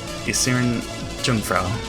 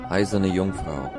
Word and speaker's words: Eiserne Jungfrau: By the name of Isirin Jungfrau. I knew it pronounced. I do like this theme as well. This is Eiserne Jungfrau.